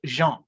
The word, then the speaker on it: Jean: We have the first name Jean. It is pronounced Jean.